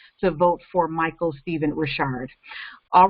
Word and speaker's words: Ri'chard: vote for Michael Stephen Ri'chard. It's not Richard, even though it looks like it's spelled that way. It's Ri'chard for Detroit City Clerk.